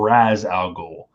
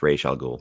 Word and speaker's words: Ra's al Ghul: In the chat, please tell me, do you pronounce this Ra's al Ghul from Batman Begins or Raz al Ghul? Because my Google search told me both. Question number 10. What? It's Ra's al Ghul.